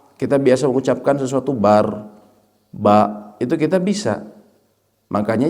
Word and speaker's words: Akbar: Dan Allahu Akbar, bar, memang bacanya bar. Itu dalam pembacaan yang benar dalam bahasa Arab.